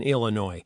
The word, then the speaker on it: Illinois: And that's a silent s in Illinois. Same with De Moine, which is in Iowa, but not the same with Dust Plains, which is in Illinois. It has noisy s's.